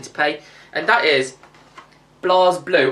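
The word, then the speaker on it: BlazBlue: And that is Blas Blue. Or is it Blaze Blueue? I like saying Blaze Blueue, but I think it is pronounced Blas Blue, is it?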